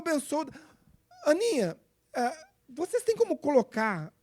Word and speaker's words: Bensouda: Aninha, por favor, Fatou Bensouda. Aninha, se escreve Fatou, como no nosso vernáculo.